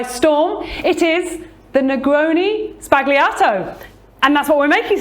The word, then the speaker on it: Sbagliato: It is the Negroni Sbagliato. And that's what we're making today, right? Absolutely is. And did I pronounce it right? You've got that right, yeah. Sbagliato, S-B-A-G.